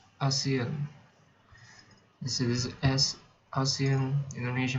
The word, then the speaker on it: ASEAN: So it's not Asian. ASEAN. So this is ASEAN, Indonesia, Malaysia, Thailand, Myanmar. I don't know if India and Nepal is part of ASEAN, but wait, hold on.